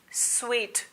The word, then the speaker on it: suite: क्या कहते हैं आप इसे? सूट. इट्स स्वीट. Come on ladies and gentleman, it's स्वीट.